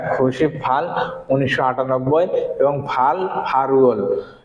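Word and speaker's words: 팔월: তাহলে দেখেন কি হয়েছে সন খু ব্যাগ খুশি ফাল 1998 এবং ফাল ফারুল, কারণ এটা ফালুল হবে না, এটার উচ্চারণ কি ফারুল।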